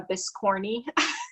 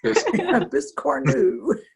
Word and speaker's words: biscornu: The other thing I got is a seasonal biscorn new. I think that's how you say it. Yes. We've been going around the house calling it a biscorny. Biscornu.